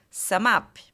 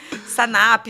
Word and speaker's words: SumUp: Só que se a pessoa lê SumUp, ela vai falar SumUp. Então, assim, era legal porque no atendimento ao cliente era Sanap, Sunup, tal. E aí, o que a gente fez? A gente fez um brand sound, que era SumUp. Que vinha em todo o vídeo para fortalecer, né, essa desconexão entre a leitura e o como se fala, né?